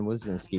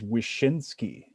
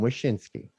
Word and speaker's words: Wyszynski: gentlemen and please forgive me on the uh pronunciation but we ladies and gentlemen have gruesome sean wazinski with us this week welcome to the show